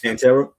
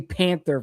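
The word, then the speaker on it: Pantera: Uh Pan I always Panta. Panta. Yeah. I I always say it wrong. I always want to say Panther for some, but like all those living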